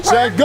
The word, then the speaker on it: Şengün: All right, let's go to H-Town for top slams because rookie, do you want to pronounce it? Alperen Şengün? Şengün!